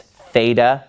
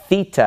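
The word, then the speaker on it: θήτα: In math, you called this theta using an American pronunciation. But this letter in Greek is the letter theta, and it makes a th sound.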